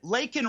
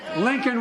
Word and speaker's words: Laken: the State of the Union address, did not pronounce Laken Riley's name properly. It's not about him. It's not about me. I'd be a winner. Not really. Lincoln Riley, an innocent young woman who was killed by an illegal.